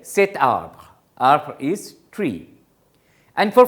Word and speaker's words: cet arbre: So, you are adding a T to make it more pronounceable, cet arbre.